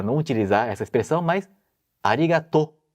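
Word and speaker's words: ありがとう: utilizar essa expressão mas arigatô as pessoas tendem a falar arigato se fosse em japonês em japonês você tem que prolongar a última sílaba que ficaria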